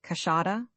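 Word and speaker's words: queixada: the big, white-lipped peccary, the quaixa, pronounced cachada, of the Brazilians, which would make our collection of the big mammals of the Brazilian forests almost complete.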